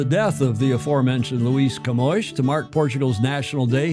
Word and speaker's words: Camões: But this guy's name, and I had to check to see how it's pronounced, Camões. Camões, Day of Portugal, Camões, and the Portuguese communities.